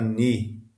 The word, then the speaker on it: ni: E a pronúncia é sempre de N, como em nada. navio, não e assim por diante.